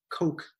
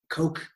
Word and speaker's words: Koch: of chapter one Christof Koch chaos eh sometimes I pronounce it coke or or Koch maybe I'll stick with coke it's great neuroscientist I've